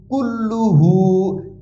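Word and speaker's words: كُلُّهُ: কুল লাম পেশ লু কুল্লু কুলু দুইবার উচ্চারণ হয়েছে কাফ লাম পেশ কুল লাম পেশ লু হা পেশ হু কুল্লুহু কুল্লুহু কাফ জাল জবর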